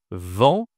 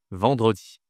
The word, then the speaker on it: vendredi: C'est vendredi. Ici, c'est le e de mercredi. Et ici, attention, c'est une nasale. On dit vent. D'accord. en vendredi vendredi.